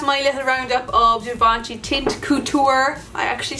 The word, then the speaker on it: Teint Couture: hey guys that's my little roundup of Jumanji tint couture I actually said it right this time the